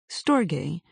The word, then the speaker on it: storge: Storge, rhymes with morge, is an affectionate, brotherly, or sisterly